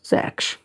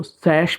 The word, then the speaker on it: Sachs: नाम है Julius von सैक्स। सैक्स बोल दो, सैश बोल दो, सैक्स बोल दो, वो प्रोनाउंसिएशन जो आप जिस तरीके से करना चाहते हो वैसे कर सकते हो।